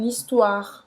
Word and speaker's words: histoire: Então aqui, presta atenção que o OI tem som de... Wa. E a pronúncia dessa palavra vai simplesmente terminar nesse R. De mon histoire.